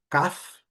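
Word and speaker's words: calf: A próxima é a palavra CAF. A letra L não enunciada.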